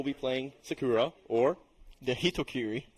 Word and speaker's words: Hitokiri: We do know Kitties will be playing Sakura or the Hitokiri. Hitokiri, there we go. I was not confident in my pronunciation ability of that character.